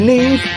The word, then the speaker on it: Neve: Along with Neve, that rhymes with Steve.